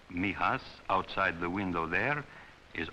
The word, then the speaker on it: Mijas: near the southern coast it is pronounced Mias for most of my boys Mias outside the window There